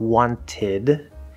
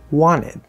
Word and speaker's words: wanted: inside the word wanted we very very commonly pronounced this not wanted but wanted the t will just completely disappear inside of a word this